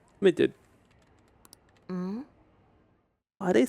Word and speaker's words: Medjed: Medjed? Medjed? Not Medjed. Medjed. Medjed. Why is it said like that? Midget.